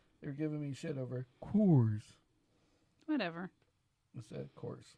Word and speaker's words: Coors: Yeah, of course. How do you say it? Course. I mean, it's virtually the same thing. It's supposed to be Coors. Coors. You're supposed to, Coors. enunciate your double O's.